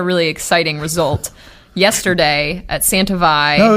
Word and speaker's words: Santa Vall: familiar, Santa Velo Santa Velo, how do they pronounce it? What do they say? Santa Velo. Santa Velo.